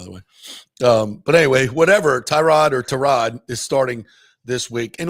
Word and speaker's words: Tyrod: And we also learned from Baker Mayfield it's Tyrod, not Yeah.